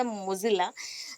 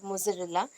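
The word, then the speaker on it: Mozilla: और that is मोज़रेला भी बोल देती हूँ मैं, या फिर मोजिला है, that is the correct pronunciation is द मोजिला, नॉट मोज़रेला।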